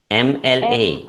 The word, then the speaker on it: MLA: The beginning sound is the vowel sound A, which is a vowel sound A, which before which we use an. Okay, so it should be AMLA or an MLA.